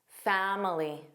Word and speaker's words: family: What's the silent vowel? Well, did you notice how that I sounds like the schwah? Fam. Fam. Family. Now, many American speakers will drop that middle sound and say family.